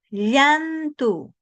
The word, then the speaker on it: llantu: Ahora pronuncie esta palabra. Yantu sombra. Llantu. Llantu. ¿Dónde está su lengua en este momento? Cuando dice usted llantu, llantu. Usted de repente haciendo llantu, fíjese su lengua.